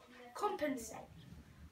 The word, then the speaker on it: compensate: For example, compensate. Compensate. Com would be C-O-M. Pen, E-N, P-E-N. Insate, S-A-T. But be careful, there's a silent E on the end.